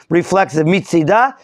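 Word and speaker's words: מצדה: There's a nekuda inside the hay. It's reflexive. Mitzidah miatzad shelah.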